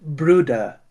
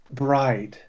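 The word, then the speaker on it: Bryde's: misnamed Omura's whale or the Gulf Bruda's whale pronounced Bruda and not bride.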